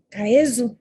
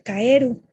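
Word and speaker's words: かえる: El siguiente verso tiene el primer carácter chino que es kaezu, que ahora se pronuncia kaeru, que es rana.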